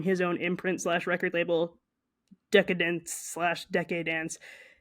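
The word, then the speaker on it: Decaydance: own imprint record label decadence deade Dan it's spelled decade Dan but it's a play on the word decadence um and they said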